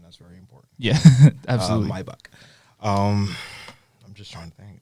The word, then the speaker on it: Maybach: of Escalades, S550, the Maybach, and catch that pronunciation. That's very important. Yeah, absolutely. Maybach.